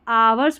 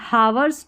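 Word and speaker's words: hours: इसको आवर्स पढ़ना है। हावर्स नहीं पढ़ेंगे।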